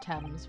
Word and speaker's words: Thames: I believe it's pronounced Thames, which is weird because you see how it's spelled, but whatever.